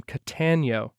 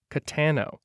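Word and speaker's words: Cattano: it that really happened jack had pronounced the guy's name catanio but it was spelled c-a-t-t-a-n-o katano we'd searched for days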